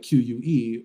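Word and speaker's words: queue: yeah like you know he's like Q or Q like q-u-e or q-u-e-u-e it's like it's all the same thing it's just Q with four silent letters after it right but yeah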